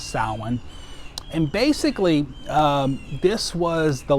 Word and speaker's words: Samhain: look like it would be samhain s-a-m-h-e-i-n it's pronounced salmon and basically this was the last harvest of